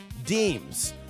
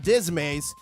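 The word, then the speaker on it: disme: July 13th, 1792, Thomas Jefferson was recorded receiving500 silver half deems. You I I had to research this. It's not dismay. You pronounce this as deems. It's French. And this later became dimes.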